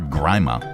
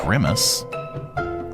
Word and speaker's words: grima: The word, is that grima or grima? All right, let me go for a pronunciation here real quick. I want to get it correct. How to pronounce. No, not grimace. Grima.